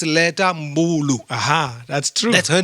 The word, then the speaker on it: Mbulu: You find presenter Leta Mbuli. Yeah, I know. No, it's Mbulu.